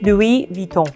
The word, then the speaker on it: Louis Vuitton: So again, because the S is at the end of the word here, so there's no pronunciation of the S, it's Louis, not Louis, and Vuitton. So for the Vuitton, when you see a U and an I, it's pronounced I, Vuitton. And whenever you see an N in French, it becomes really nasally like back of the throat. Vuitton, Vuitton, Louis Vuitton.